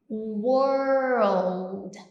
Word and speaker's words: world: Então, imagina que aqui, quando você está falando desse pronunciation tip, essa palavra, imagina que você está pronunciando assim, ó, were com old, world, world, old, world, world.